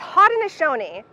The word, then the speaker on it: Haudenosaunee: It's Haudenosaunee. There's no SH, but that's how they say it.